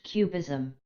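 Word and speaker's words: QBism: this is an interpretation known as Quantum bastionism abbreviated as cubism pronounced cubism it is entirely subjective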